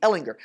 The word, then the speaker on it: Ehlinger: third option behind Sam hard G Ehlinger now I'm saying all